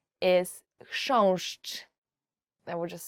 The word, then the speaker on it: chrząszcz: Chrząszcz. Beetle. So the first word is, and I promise you this is the most difficult word you will ever learn in Polish, as for the pronunciation, is chrząszcz.